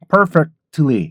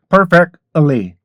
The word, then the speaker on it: perfectly: 발음이 많이 약화가 되면은 perfectly 이렇게 발음 했다가 perfectly perfectly 이렇게 발음이 돼요 그래서 k 발음에서 l 발음으로 바로 넘어가라는 거죠 그래서 어떻게요 per perly